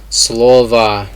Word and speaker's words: слово: So it's слово, so the stress is on the first O. So it sounds like it's an A, but it's an O.